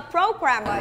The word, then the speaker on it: programmer: Who do you think a programmer is? Good, lập trình viên. Group 3. Okay, now class, listen again and tell me where the stress is. Programmer. Programmer, so on the first syllables.